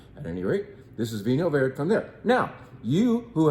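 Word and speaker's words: Vinho Verde: I know you can say Vino Verde if you want, but the correct pronunciation, pretty much, I'm not Portuguese, but the best try at it is Vino Verde. Vino Verde.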